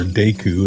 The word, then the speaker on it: Deku: And these lovable leafy little fellows are known as deu scrubs or deku if you're leaning into the Japanese pronunciation.